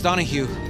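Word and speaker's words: Donaghue: name's roberto roberto flores donahue bats with the silent g you don't pronounce it because it's gaelic my husband's very proud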